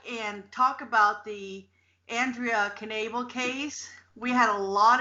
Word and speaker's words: Knabel: her name is Andrea Knable so you do say the king and it's pronounced as it's spelled and she want us